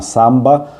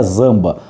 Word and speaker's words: zamba: A samba deles é com Z, né? Que seria, se a gente fosse ler em português, seria zamba, mas se pronuncia samba. Então, uma samba Al Jardín de la República.